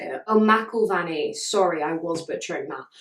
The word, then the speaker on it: McIlvanney: by two people, sorry, got confused, by William McIlvanney. William McIlvanney. I'm so sorry if I'm butchering that. Wait, let me look up how to say it. Oh, McIlvanney.